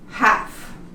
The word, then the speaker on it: half: When we have it like this, we don't pronounce it. Could. Could. Talk. Half.